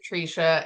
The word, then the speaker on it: Tresha: It the way that it's spelled out it should be TRA but my parents pronounce it Trica.